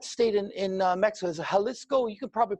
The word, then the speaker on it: Jalisco: in in mexico is jalisco you could probably pronounce because yeah they pronounce a j with an h or something i'm from canada it's